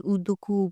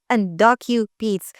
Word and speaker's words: UndocuBeads: So they're like, how do you pronounce this? Uduku. But like, no, it's not it's UndocuBeads.